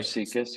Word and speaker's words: SIECUS: How do you? Yep. So Okay. Seekus, yep.